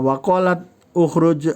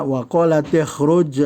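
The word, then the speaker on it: وقالت اخرج: Jadi bacanya waqalat ikhruj alaihin. Nah, jadi diganti, boleh dia dibuang sukunnya, diganti dengan kasroh ya. Jadi bacanya bukan waqalat ukhruj alaihinna, tapi menjadi waqalat ikhruj alaihin.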